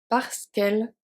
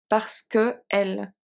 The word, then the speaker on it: parce qu'elle: So we remove the E at the end because L starts with an E, so we can't have two E. It does not work. One has to go. So parce qu'elle n'a pas faim. We remove one, so the other one is good. It's simply in French because if we say parce que elle, it's not a good flow of pronunciation, so we have to remove one.